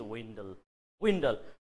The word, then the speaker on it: dwindle: किन भन्दाखेरि नि धेरै जसोले dwindle भनिराख्नु भएको छ. साइलेन्स गर्नुहोस् डीलाई अब. This D is silence. अब पढ्नुहोस्. सर अब त विन्डल भयो. Yes, correct pronunciation of the word is windle.